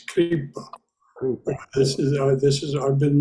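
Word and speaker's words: Kṛpā: I always thought that if there's an accent mark over the A, a straight line over the A, then that syllable gets emphasis. But I could be wrong. No, it's Kripa.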